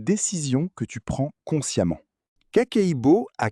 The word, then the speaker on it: kakeibo: La première habitude s'appelle kakeibo, prononcé ka-kei-bo.